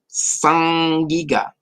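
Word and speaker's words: sag-giga: It's like the it's an interesting way to pronounce the. You don't have like sag like you would see it spelled. It makes the like the ing is a throat.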